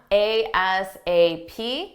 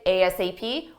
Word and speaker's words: ASAP: Our next expression is an acronym, ASAP, which stands for as soon as possible. For pronunciation, you can say ASAP or ASAP.